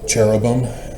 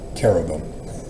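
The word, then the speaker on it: cherubim: Senosura Greek is a little bit different pronunciation. It's technically kinosura rather than senosura. Like cherubam. No, carobum.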